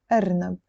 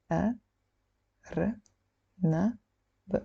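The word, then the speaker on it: أرنب: So this is the Alif, Ra, Noon, B. Arnab.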